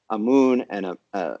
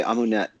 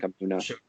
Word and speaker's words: Amunet: Yeah, people say Amunet, but the U vowel is actually coming from the Coptic pronunciation of Amun. So it's that name Amunet is a blend of both pronunciation systems, creating just even worse nonsense than either one of them alone. And it would probably be something like Amuna.